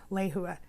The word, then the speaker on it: Lehua: It sounds like and is pronounced Lehua.